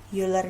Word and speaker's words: Euler: Tulisannya Euler, bacanya Euler gitu ya biar keren.